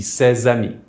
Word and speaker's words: ces amis: This means that THESE FRIENDS will be CES AMIS, don’t forget to pronounce that Z sound in the middle, that’s the liaison.